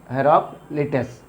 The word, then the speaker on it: हेराक्लिटस: हेराक्लिटस। तो इनका नाम जो है प्रोनाउंसिएट करते समय इनको टू पार्ट करिए तो हेराक्लिटस जो इनका नाम बन जाएगा।